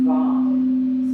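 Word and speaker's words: vaṁ: The Bija mantra sound is Vam. So let's repeat that together. It's a long A sound, so it's Vam.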